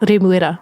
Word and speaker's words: Remuera: So I have lived in Remuera for a couple years, and a lot of people do not know that it's called Remuera, and so they're like, where? And I'm like, it's by Newmarket, Remuera, and Remuera, Remuera, So